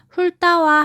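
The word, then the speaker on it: 훑다: 자, 훌따와 할따는 어떻게 발음해야 할까요? 쌤이 뭐라고 발음했나요? 그렇죠. 앞자음 리을로 소리 나죠?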